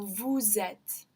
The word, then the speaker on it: vous êtes: So we know that S at the end is going to be pronounced when there's that vowel to start the next word. So vous êtes.